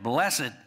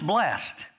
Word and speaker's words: blessed: blessed or if uh when i was growing up blessed was a two-syllable word blessed and that's why the old-time preachers used to say it blessed along with other words they turned into multi-syllable words but it's blessed and it means happy